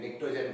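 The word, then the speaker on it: Pnictogen: P silent है, NICTOGEN, निक्टोजन बोल दिया, ऐसे नाम दे दिया।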